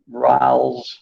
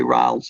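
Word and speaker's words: Rolle: as raoul's theorem r-o-l-l-e-s i've heard it pronounced in all different ways rowell's rallies i don't know brawls usually riles is the pronunciation so ralph's theorem deals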